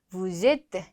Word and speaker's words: vous êtes: Nous sommes, vous êtes. 여기 꼭 연음.